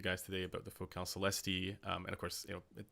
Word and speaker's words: Celestee: So you got it right. It's pronounced Celestee. So good point.